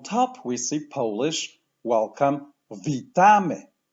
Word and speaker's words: Witamy: in this word and the word stress falls as almost always on the second-to-last the pronunciation will be V Tommy let's start with the